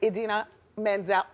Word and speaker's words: Idina Menzel: It's Idina Menzel.